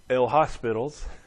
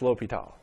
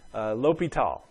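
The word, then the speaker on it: L'Hôpital: here it looks like itll hospitals but usually that's pronounced l'hopital it's a French guy l'hopital l'hopital's rule for limits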